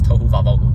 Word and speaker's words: tohu vavohu: In the Hebrew, it literally says tohu vavohu. It rhymes.